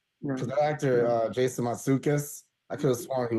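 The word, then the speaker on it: Mantzoukas: That's actually pronounced Matsoukas. The Matsoukas. NT together makes a D sound.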